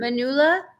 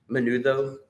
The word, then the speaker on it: menudo: Manula? Menudo.